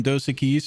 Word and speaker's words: Dos Equis: Yeah, Dos Dos Equis? Equis, that's correct. Yeah. Yeah. Flawless pronunciation there.